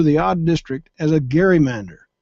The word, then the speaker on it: gerrymander: odd district as a gerrymander. The hard G was soon softened to a J to produce the word gerrymandering, a political term used over and over for the past 200 years.